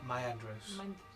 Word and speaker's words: Myandros: How do you say the last name again? Myandros. Myandros.